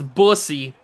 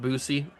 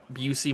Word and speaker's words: Busey: It's Bussy. Yes, I know it's pronounced Busey. Busey, most likely, but it's my guy, and he's not real, so I'm going to call him Bussy, because I think that's funnier.